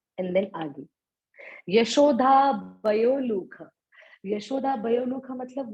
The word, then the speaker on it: यशोदा: आगे है यशोधा भयो लोक। देखो प्रोनाउंसिएशन बड़ा क्लियर होना चाहिए। यशोदा भयो लोक लाघवमानम।